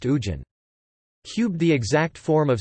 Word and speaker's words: hujan: Squared, the consonant Ha is sometimes not pronounced. For example, Hujan lit rain is pronounced Ujan.